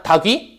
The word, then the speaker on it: 닭 위: 닭 위런 것처럼 닭 위 발음해 봐. 닭 위기하잖아. 다귀.